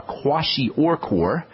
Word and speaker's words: kwashiorkor: a whole nother story kwashiorkor and that's spelled k-w-a-s-h-i-o-r-k-o-r kwashi or core which by the way